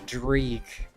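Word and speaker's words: dreich: It's pronounced dri. It means wet gray weather. It means wet d gray and gray weather.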